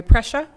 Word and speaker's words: Prussia: with the one prussia i said it right yeah yes like pressure bus by prussia